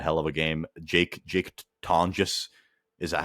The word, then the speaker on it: Tonges: Jake Tonges, is that how you say his name? Jake It's Tonges.